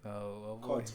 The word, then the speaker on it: Khotso: How do we pronounce it? Ke Khotso, Chief. Khotso.